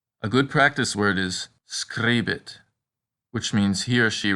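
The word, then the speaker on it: scribit: a little troublesome because the long version is pronounced just like the letter e the short version though rhymes with sit a good practice word is screebit which means he or she writes screebit one note about this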